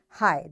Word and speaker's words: high: words with silent letters such as T in switch and G in high this is our today's